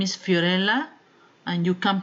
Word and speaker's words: Fiorella: are anyhow cleaning services calm my name is Fiorella and you can pronounce my name like Fiorella like cinderella right right now I'm showing you